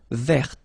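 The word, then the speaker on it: vert: So masculine form you don't pronounce the final t feminine form ver.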